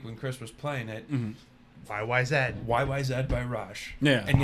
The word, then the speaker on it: YYZ: Chris was playing it YYZ YYZ by Raj yeah and yes it is pronounced YY Z they are Canadian they are very is